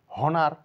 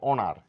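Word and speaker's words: honour: বলবো অনেস্ট কারণ এইচ এর কোন সাউন্ড নেই হনার নয় বলবো অনার এইচ এর সাউন্ড নেই হাওয়ার না বলে বলবো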